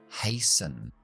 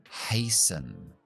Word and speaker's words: hasten: Es más común decir hurry, hurry con el paraguas, este que va así, hurry, pero también puedes decir hasten, hasten. La T no se pronuncia.